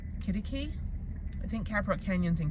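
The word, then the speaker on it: Quitaque: And for the longest time, I had no idea how it was pronounced. So I was like, Quitikiki, I don't know. And they're like, no, it's Kittikee.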